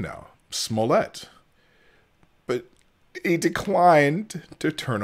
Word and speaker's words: Smollett: I've learned how to say his name now Smollett but he declined to turn over his phone